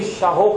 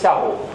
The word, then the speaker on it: Shahu: And the descendants of Mir Shaho Khan, also sometimes pronounced Shahu, but it is Shahu.